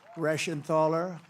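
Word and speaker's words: Reschenthaler: great job real Warrior these are warriors guy rashan thaler that's the hardest name in the Senate to pronounce but I've learned how to pronounce it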